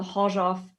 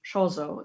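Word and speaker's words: Chorzów: comes to mind from the Horzov factory cases, which other people pronounce Chozo, even though it's incorrect.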